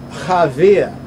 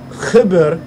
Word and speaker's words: Chaber: But the word Chaber, the Ashkenazis, if you ask a Nazi or Ashkenazi, they would tell you that, well, it's Chaver, Chaver, Chaver, Chaver, right? But really, the word is Chibur, Chibur, from Chibere, from Chibere. Chibere, Chibere is a Ge'ez word.